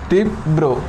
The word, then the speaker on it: তীব্র: রয় উচ্চারণটা হয় না র যে ব্যঞ্জনের সাথে যুক্ত থাকে ওই ব্যঞ্জনের দ্বিতীয় উচ্চারণ হবে যেমন ছাত্র ছাত্র ওকে ছাত্র তীব্র তিব ব্রো আশা করি আমরা বুঝাতে